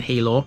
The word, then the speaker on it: Healaugh: to pronounce it because spelt h-e-a-l-a-u-g-h it can be pronounced a couple of ways thankfully wikipedia has got one of those ipa uh what sexual international phonetic alphabet is it is that what that stands for i don't know anyway on wikipedia it shows you how to pronounce it this is hilo here's my disclaimer